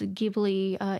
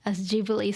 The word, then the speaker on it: Ghibli: He insisted that, oh no, my Italian friend pronounced it as Ghibli, so let's go with Ghibli. And his co-producer, slash mentor, Takahata-san, saying like, no, what are you talking about? It should be Ghibli.